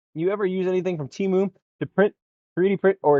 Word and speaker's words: Temu: Let me use the correct pronunciation. Temu. It's the weirdest filament I've ever seen.